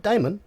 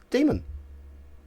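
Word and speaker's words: daemon: pick up on here see this d-a-e-m-o-n a e is simply pronounced e so in the variant spelling of encyclopedia it's a encyclopedia this is simply a variant spelling let's say a demon it's not Damon demon that's all it is oh I have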